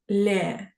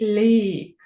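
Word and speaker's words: le: означений артикль зверніть увагу він читається не ле А треба казати лі тобто треба трохи посміхнутися розтягнути в уголки губ і сказати лі почуйте різницю ле як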